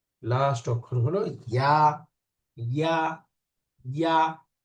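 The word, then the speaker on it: ياء: ইয়া। ইয়া না, ইয়া জিহ্বার মাঝখান উপরের তালুর সাথে লাগবে ইয়া।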